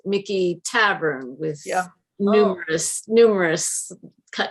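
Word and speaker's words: Michie: charlottesville has a mickey they pronounce it mickey tavern with numerous numerous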